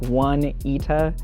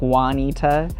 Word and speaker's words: Juanita: how you pronounce it it looks like one eta but everyone says it like juanita um and so really